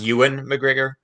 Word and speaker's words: Ewan McGregor: Just so you know, it's pronounced Ewan McGregor.